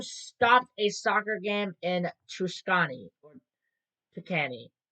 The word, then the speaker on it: Tuscany: We got a UFO stopped a soccer game in Tuscany or Tucany. Tucany.